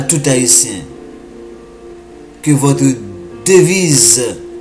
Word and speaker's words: Hayti: la seule copie originale, Haïti s'écrit H-A-Y-T-I, ce qui donne Haïti, la terre de Yah.